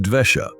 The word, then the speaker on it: dvesha: one of these states vesha which means anger but in Sanskrit it is pronounced dvesha meaning a state of